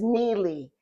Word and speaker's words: Neili: So, my name is Neely. If you would spell it the way in transliteration in in Hebrew, it would be n i l i. My folks chose to spell it n i e l i.